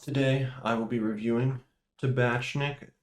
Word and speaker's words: Tabatchnick: i will be reviewing tabashnik chicken broth i think that's how you pronounce that name with noodles and dumplings